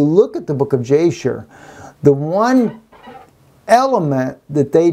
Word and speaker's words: Jasher: like we have today, the book of Jasher, Yashar is actually how you pronounce this.